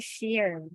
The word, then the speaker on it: Shire: Sa British ang tawag nila dito sheer no? Old old means to share. Um parang ganun glov basta ganun no? So sheer tayo ang pronunciation natin. Shire yan.